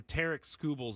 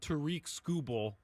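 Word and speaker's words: Tarik Skubal: the world or the Tarek Skubals of the world. And by the way, finally found out that I was saying his name wrong this entire time. It's not Tariq Skubal, it's Tarek Skubal.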